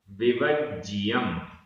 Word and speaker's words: विवज्जियम: संशय, संशय, विमोह, विमोह, विभ्रम, विभ्रम आधा ब भ, विभ्रम, विवज्जियम, विवज्जियम आधा ज पूरा ज, विवज्जियम ये पूरा एक समासित पद है।